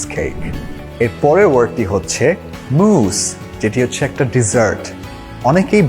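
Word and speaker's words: mousse: chocolate Carrel cheese cake এর পরের ওয়ার্ডটি হচ্ছে মুস যেটি হচ্ছে একটা ডেজার্ট অনেকেই ভুল করে এই ওয়ার্ড থেকে প্রোনাউন্স করে মুস অর মাউস কিন্তু এর একটাও কারেক্ট না দ্যা কারেক্ট প্রোনাউন্সিয়েশন হচ্ছে মুস আই হ্যাড চকলে with মুস for dessert the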